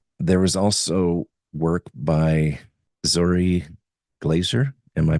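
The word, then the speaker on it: Zory Glaser: There was also work by Zori Glaser. Am I pronouncing his name correctly? Zori Glaser, yes.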